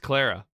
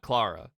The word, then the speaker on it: Clara: It's pronounced Clara. Oh, cool. Thank you. Thank you, Libby. Not Clara, of course.